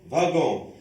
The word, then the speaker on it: wagon: Alors dans le premier mot, on prononce W comme la lettre V, wagon.